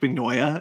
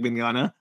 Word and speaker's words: Mignogna: I really love that you said Vic Mignoya and not Vic Mignogna.